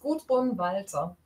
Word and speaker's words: Gundrun Walther: And my name is Gundrun, Walther.